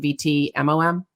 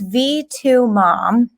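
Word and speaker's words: V2MOM: but is it do do i spell it out is it vt mom it's v2 mom e2 mom see i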